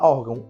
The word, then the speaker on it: órgão: acento agudo ou circunflexo na palavra órgão órgão a sílaba tônica é o or Então vou marcar aqui